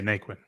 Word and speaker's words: Naquin: Is it Naquin? Yeah, Naquin. Yeah, you said it right.